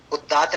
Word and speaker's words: उदात्त: गलत बोल देते हैं, उदात्त की जगह बोलते हैं उदात्त, डबल द कर देते हैं, बल्कि डबल त है ना। उदात्त नहीं है, अनुदात्त नहीं है, उदात्त है, अनुदात्त है।